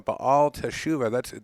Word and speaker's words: Ba'al Teshuva: Raised in a Southern Californian conservative Jewish home, Joel became a Ba'al Teshuva. Did I say that correctly? That's newly religious. That's very good. Yes, you did.